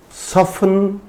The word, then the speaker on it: soften: Moreover, there are a number of random words with silent T and we need to learn them. These words do not follow any rule. So, we have to remember these words. For example, asthma, it's not asthma, asthma, Christmas, Christmas, mortgage, mortgage, it's not mortgage, mortgage, soften, etc.